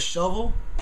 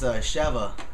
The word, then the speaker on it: Sheva: I'm saying it right, Sheva. Sounds like when I first heard it on the game, I was like, what the hell? You just call it Shovel? But nah, it's Sheva.